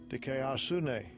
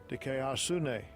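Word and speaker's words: δικαιοσύνη: Does it tell me how to pronounce it? Just Strong's G 1343. Dikayasune. Strong's G 1343. Dikayasune.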